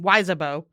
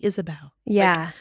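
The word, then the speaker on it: Ysabeau: reading it I'm like how the hell are you pronouncing weabo I know it wasn't until I listened to the audio book and I was like oh the pronouncing it Isabelle almost like an Isabelle kind of also a little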